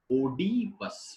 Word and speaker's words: Oedipus: Most of the speakers say Oedipus. This is the name of the king. King Oedipus. Oedipus. So O alphabet has two different pronunciations. O sound and E sound.